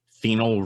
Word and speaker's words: phenol: it starts with ph it's spelled p h e n o l and it's red phenol red and what sound does ph make right okay so after 25